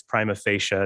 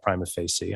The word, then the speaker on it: prima facie: wrong and nathan's right it's prima facie not prime of facey i'm terrible at pronouncing things